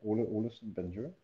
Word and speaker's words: Olesen-Bagneux: My name is Ole, as you said, Olesen-Bagneux, my full name.